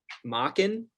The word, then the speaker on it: Machen: We're going spooky, and we're reading the Great God Pan and Other Horror Stories by author Arthur Machen.